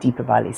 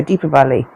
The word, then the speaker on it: Deepavali: I don't know how you pronounce it, but I asked my local friends and they said Deepavali. So Deepavali, which is an Indian festival.